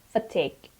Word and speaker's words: fatigue: word is fatig and the stress is on T fatigue extreme tiredness extreme tiredness